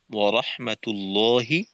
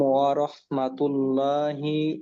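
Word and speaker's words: ورحمة الله: আসসালামু আলাইকুম ওয়ারাহমাতুল্লাহি ওয়াবারাকাতুহ। আচ্ছা ওয়ারাহমাতুল্লাহ না বলে ওয়ারাহমাতুল্লাহি আর ওয়াবা ওয়াবারা ওয়াবারাকাতুহ।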